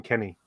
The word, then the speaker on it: Kennex: except i pronounce him kenny okay so the x is silent in that version um so i'm i'm